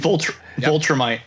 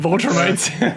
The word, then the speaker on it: Viltrumite: I mean, the biggest sin was Viltrumite. Viltrumite. Yep. Oh, that one I do know well. Where I think it was Kevin. Yeah. Where I said the Viltrumite, and he's like, "You mean Viltrumite?"